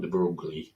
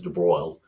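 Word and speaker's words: de Broglie: so in 1924 um de BR is how you pronounce that it's not Dei but it's de BR um he proposed an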